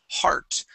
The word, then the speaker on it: heart: First up is the word heart. Make sure to pronounce that R sound, okay?